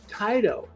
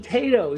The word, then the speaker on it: Taito: So he said, well, I know a guy that collects the games from Taito. I said, you mean Tato? He said, no, we pronounce it Taito.